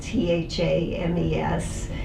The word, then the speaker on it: Thames: River Thames it's spelled tha mes looks like it should rhyme with James but it is pronounced Thames and in this frame